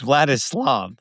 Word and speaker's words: Vladislav: Vladislav the poker. I got his name wrong in two different ways now. Or or yeah, sorry. Actually, I got it wrong, too. It's Vladislav. Vladislav.